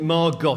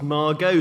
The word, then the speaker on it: Margot: And Margot Asquith says, well, look, you know, my name isn't Margot, it's Margot, the T is silent.